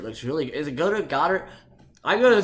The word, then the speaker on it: Goedert: Is it Goddard? I'm gonna say Goddard. I'm gonna say Goddard because it rhymes with Joe Dirt, and I like that more.